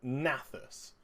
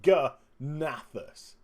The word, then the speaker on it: G'nathus: will boss gathas naus I don't know if you want to silent the G or not silent the G I'm personally not going to silent the G because of the apostrophe if the apostrophe wasn't there I would call it nathus but because the apostrophe is there I'm going to call it g nathus so I I don't